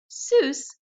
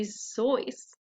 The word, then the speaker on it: Seuss: Fun fact, Seuss is supposed to rhyme with voice, not goose, so it's actually supposed to be Zoice.